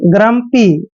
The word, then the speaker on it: grumpy: आर आता है, यानी जी के बाद जब भी कॉन्सोनेंट आता है तो जी का उच्चारण ग करते हैं, और आर को हम RU का उच्चारण यहाँ पर रे करते हैं, एम को आधा मैं पढ़ते हैं और पी को पे पढ़ते हैं और वाई को ई की मात्रा लिखेंगे। ग्रम्पी, ग्रम्पी, ग्रम्पी होता है दोस्तों एक तरह से चिड़चिड़ा।